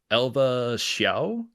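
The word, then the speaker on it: Elva Hsiao: correct me on this uh Lily if I mispronounce this uh Elva xia is that how you say it Elva Elva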